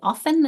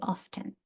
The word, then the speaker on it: often: The reason why we have 4 or 5 is because some people pronounce the T and some don't. Some people say often and some say often.